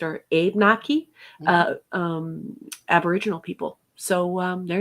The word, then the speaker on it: Abenaki: Cree and the Ojibwe, and then the uh, Abenaki, I think it's pronounced, or Abenaki, Mhm.